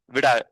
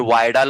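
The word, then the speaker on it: Widal: कोणती टेस्ट आपण करतोय विडाल वायल नसते विडाल असते विडाल तुम्ही वायडाल बोलाल तिथ आणि जो बेसिकली एमबीबीएस टीचर तुम्हाला टीचिंग करणार आहे अ वाईडल्ट टेस्ट ठीक आहे.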